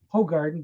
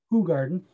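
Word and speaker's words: Hoegaarden: I know most people are, because of their American pronunciations, they're gonna call it Ho Garden, but it's actually pronounced Who Garden.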